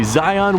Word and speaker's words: Zyon: These are the new Yeezy Zyon Williamsons that have nothing to do with Zion Williamson. It's spelled differently than Zion Williamson, but it sounds the same.